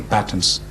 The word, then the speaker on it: patents: in one area patents or as the Americans say patterns I prefer to say patents but that's unimportant tomato